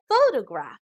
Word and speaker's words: photograph: syllables faux toe graph the emphasis or stress is given on the first syllable so we pronounce this as photograph now compare this to